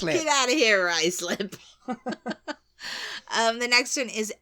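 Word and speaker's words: Ruislip: in Northwest London um I used to think it was ruis slip you know ruis slip ruis lip yeah wasn't it's rice lip rice slip yeah like you got a bit of rice on your lip you get your rice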